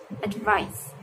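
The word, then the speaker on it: advise: Jadi advice yang verb itu spellingnya pakai S dan bacanya z, advice, advice, advice.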